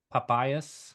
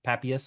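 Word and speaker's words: Papias: I've got it here papayas I think I'm pronouncing that wrong papius papius that's what it is he was in like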